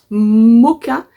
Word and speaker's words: Mocha: couleur donc c'est le moka mousse ça s'écrit mocha mais Moka mousse donc voilà c'est un